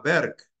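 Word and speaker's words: Burke: un autor inglés que se llama Berk que se escribe burque con b larga y con k burque sí Berk es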